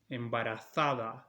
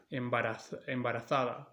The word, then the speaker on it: embarazada: Then embarazada, embarazada in Spain. This means pregnant. Embarazada, embarazada in Latin America.